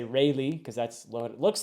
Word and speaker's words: Rayleigh: I think that's how you say it, Rayleigh, not Raleigh, which is Raleigh is the Sir Walter Raleigh, whom I'm assuming, named